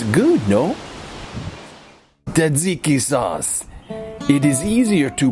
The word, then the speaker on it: Tzatziki: Tzatziki sauce. It is easier to pronounce and make than it is to spell.